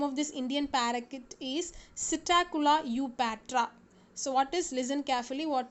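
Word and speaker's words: Psittacula eupatria: So the scientific name of this Indian parakeet is Psittacula eupatra. So what is, listen carefully, how do you have to pronounce it? Psittacula eupatra.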